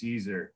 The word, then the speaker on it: Siser: My first lesson every time I do these classes is how to properly pronounce Siser.